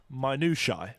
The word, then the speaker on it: minutiae: One of the things that always gets, one of the words that always gets mispronounced is minutiae, because it's got a T in the middle, and people always pronounce it with a hard T.